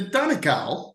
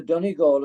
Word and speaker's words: Donegal: So many awards and accolades you have won, including the Donegal. Did I pronounce that correctly?